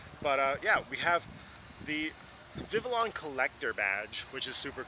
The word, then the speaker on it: Vivillon: I think I saw like the pronunciation is Vivillon, but I've never in my life heard it pronounced like that, so Vivillon.